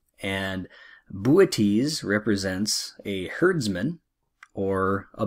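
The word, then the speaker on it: Boötes: sickle second Spring constellation looks like boots but it's actually pronounced booties and booties represents a herdsman or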